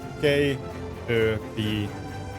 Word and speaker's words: köpa: Like the word for the shop, which is typed like K-Ö-P-A, but then it's pronounced like köpa.